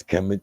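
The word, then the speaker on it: Kemet: it's called Trickum ship kmt conventionally pronounced as chem used by the ancient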